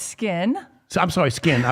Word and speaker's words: Skyn: It is skin, but Yes. it's pronounced spelled Just spelled with a Y. That's all. S-K-Y-N.